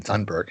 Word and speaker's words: Thunberg: She says that Greta Thunberg, that's really how you pronounce her name, Thunberg, she's getting the attention by not getting attention.